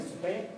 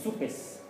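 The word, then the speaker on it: Suppes: Patrick Soupé es apellido francés. No se pronuncia la S. En francés. En español, sí. Soupes.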